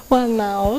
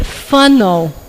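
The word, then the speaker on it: whānau: Alguém quer chutar como é que será que pronuncia isso? Wanau, não é? É funnel.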